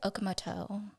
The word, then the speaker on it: Okamoto: Okamoto. Yes, it's Japanese.